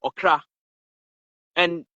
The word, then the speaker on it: Okraa: The soul, Okra. And the feminine aspect of the soul is called what? Okraa. Okay. The Okra is spelled O-K-R-A.